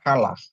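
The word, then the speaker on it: חלה: Terus head dikasih patah, lamet dikasih kamats tambah he, jadi bacanya kalah.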